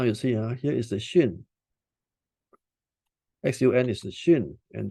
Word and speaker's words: Xun: If you see box number 4, there is this particular word, English word called the XUN in green color. This is pronounced as Xun.